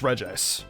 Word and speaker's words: Regice: were pronounced as Reggie I thought the ice one would be two but then I found out it was just regice I'm gonna put these